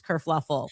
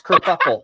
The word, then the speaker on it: kerfuffle: Prince Harry abdicates England, causes this whole race kerfluffle. Oh no, it's kerfuffle.